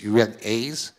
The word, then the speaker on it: UNAIDS: And right now, she is a Chief of Staff Development and Performance at UNAIDS. UNAIDS, do I pronounce correctly?